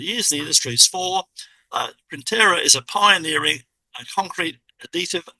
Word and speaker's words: Printera: Printer as in a print then a printer and a on the N. How do you pronounce that Justin? It's Printer.